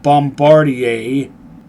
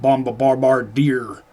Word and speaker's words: Bombardier: Since I have Bombardier and yes, that is how you pronounce that. It's French. Of course, the bandits don't pronounce it right. They pronounce it bombabarbar dear.